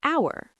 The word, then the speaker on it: hour: An hour, an honest person, an honor. These are the most common silent H words.